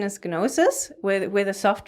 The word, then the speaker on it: Gnosis: approach and implanting noses I also say it without the G so for those out